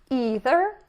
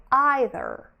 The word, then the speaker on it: either: defining pronoun is either you can pronounce it two ways you can say either or either choose any you like but do stick to